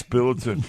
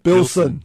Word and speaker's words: Bilson: And then we have the Minister for Franchising, Bruce Bilton. Oh, is that his name? Bilson. Bilson. See, I got his name wrong.